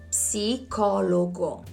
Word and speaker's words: psicologo: For example, you can say psicologo. You read all the letters.